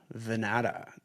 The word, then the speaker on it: Vannata: Welcome back to the Chasing Common Ground podcast and today I'm joined for the first time by Vanata.